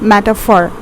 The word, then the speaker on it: metaphor: It's pronounced as metaphor.